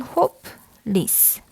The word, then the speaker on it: hopeless: 그런데 영어에서는 요 hope 요 다음에 나오는 요 으가 사실상 발음이 없는 거라고 보고 요 스에 나오는 으도 발음이 사실상 없는 거라고 보기 때문에 영어에서는 hopeless 이렇게 이음절로 봅니다.